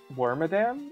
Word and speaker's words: Wormadam: can get rid of wormadam if you want ouch she's earthquake okay okay I was wondering you say worm do you say worm wormadam or wormadam wormadam I know that it comes from Madame it probably should be